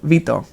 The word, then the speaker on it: Vito: Vito is how you say my name, Vito.